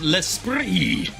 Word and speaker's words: L'Esprit: So the T is silent. It's L'Esprit. Pronounced L'Esprit.